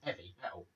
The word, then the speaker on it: Heavy Metal: There's no H at the beginning, it's Heavy Metal.